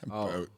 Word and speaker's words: Voat: of oh boat vote voat well i i still have not heard of that it's pronounced coat sure i mean it